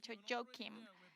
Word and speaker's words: Joakim: pronunciar a mi nombre entonces imagínense como un rapero hubiera saludado al presidente jokin así es como se dice entonces ya